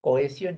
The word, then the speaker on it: cohesión: Dos vocales abiertas se separan. No olvidemos que la H es como si no existiera.